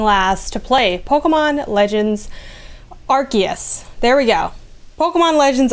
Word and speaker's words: Arceus: to play pokemon legends arceus there we go pokemon legends arceus arc as in an arc that's how it's pronounced um what's up y'all